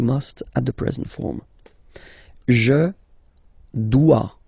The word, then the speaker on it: dois: Je dois. Okay, remember, final S is not pronounced. Je dois. OE, when you combine the two, you get the sound wa wa wa.